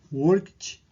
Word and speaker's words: worked: E no caso desses 4 verbos aqui que estão em amarelo, a pronúncia do som final do final do verbo, o som é de um T. Vamos ver aqui, worked, walked, talked and washed.